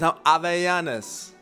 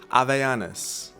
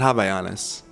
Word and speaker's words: Havaianas: Havaianas. Havaianas, how am I doing, folks? All my Brazilians, Havaianas. Havaianas. Not Havaianas. I guess unless you're in, you know, the US or Australia or Europe, English-speaking places.